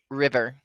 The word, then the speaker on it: river: in between there it's river river yeah right now yeah it's the it's that english short i sound that's only in english yeah it's that's that